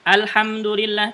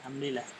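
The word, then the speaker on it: الحمد لله: Contohnya misalkan alhamdulillah, kenapa dibaca al bukan il gitu ya? Karena dia bergandengan dengan lam sukun.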